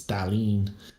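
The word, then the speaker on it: Thallanne: if you put her into google translate it's thalene uh this is how it actually pronounces it oh really um yeah darlene was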